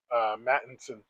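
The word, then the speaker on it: Mattison: yes, Mattinson.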